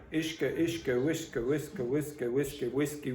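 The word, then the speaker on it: uisce: So the pronunciation is ishka, ishka, ishka, whiska, whiska, whiska, whiska, whiskey, whiskey.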